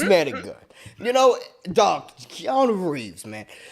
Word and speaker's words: Keanu: Mufasa thank God right Kiana's going to have three bill Neo Mr weak see no see you said that wrong you said it wrong Keanu has three Neo Mr